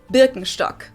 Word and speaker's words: Birkenstock: speakers usually say Birkenstock in German we say Birkenstock Birkenstock Birkenstock which literally translates to Birch stock